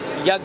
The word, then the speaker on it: Yonge: Hey, here we are, once again on the city's most interesting street that divides east and west, Yonge Street. It's spelled as Y-O-N-G-E and not Young as in Y-O-U.